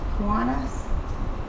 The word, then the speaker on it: Kiwanis: Is that how it's pronounced? Kiwanis?